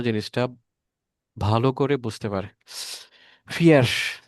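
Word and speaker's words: vier: ভালো করে বুঝতে পারে ফিয়ার যেটা আমি ভুল করেছিলাম আর কি ফিয়ার এফ এফই লিখে ফেলছিলাম বাট এটা ভি উচ্চারণ হবে জার্মানি ভাষায় এটা এফ মানে ফ এর মত উচ্চারণ হয় তাহলে মোটামুটিভাবে আমরা ফিয়ারজিস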